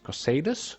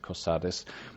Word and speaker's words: Cosades: a package and a letter to caius cosades cosadas cosades i'm going to pronounce it cosades in the town or the city of balmora